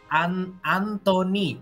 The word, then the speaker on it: AN2NY: Anthony. Oh, Anthony bacanya.